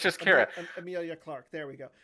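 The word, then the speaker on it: Qi'ra: Beckett, L3, and I'm not going to pronounce her name. Kira? Amelia Clark. Is it Kira? Kira. Yeah. Yeah, it's just Kira.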